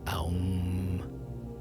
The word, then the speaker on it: Aum: And so that sound in many places in India is still pronounced Aum because it's thousands of years old.